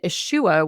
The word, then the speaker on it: Isua: And then Ishua, which is a harder to find crystal, but for whatever reason, I was really drawn to it. And it's spelled Isua.